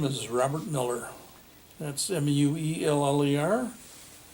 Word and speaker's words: Mueller: robert miller that's m-u-e-l-l-e-r my grandfather came from germany and anglicized to pronunciation and the only two places in the country where you have to say it's miller is or not say it's miller is in wisconsin and nebraska um yes sir where